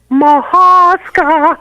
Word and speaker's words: Mahaska: It's Mahaska.